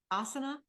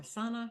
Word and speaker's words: Asana: of think about if you're getting that space ASA or Asana Asana I always call it the wrong name